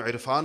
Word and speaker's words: عرفان: کچھ لوگوں کا نام عرفان ہوگا، کون اس کو عرفان کہتا ہے؟ عرفان کہتے ہیں، حمزہ سے کہتے ہیں۔ تو ہم عین کا تلفظ کرتے نہیں ہیں، حالانکہ لکھتے ہیں،